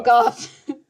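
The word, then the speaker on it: Gough: I think it's Michael Goff. Christopher Walken. That makes sense because it's like Van Gogh. Well, but spelled with a U.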